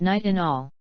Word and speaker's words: nitinol: named their new alloy nitinol pronounced night in all the name represents its